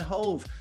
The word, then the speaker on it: Hoeve: Mesdames, messieurs, ladies and gentlemen, Hoeve. Hey, it's Hoeve. Am I pronouncing this right? Not really, but I accept it. How should I pronounce your name? Hoeve. Hoeve.